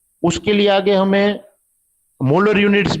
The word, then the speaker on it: mho: ओहम का उल्टा, सब कुछ उल्टा है, तो ओहम का स्पेलिंग भी उल्टा कर दिया है, देखो MHO, मो।